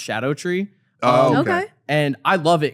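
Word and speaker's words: Scadutree: I guess it looks like it's called Scattered Tree, but it's apparently pronounced Shadow Tree.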